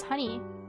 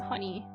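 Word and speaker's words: Hunie: is honeypop I think honeypop is pronounced honey the h u n i e I think it's pronounced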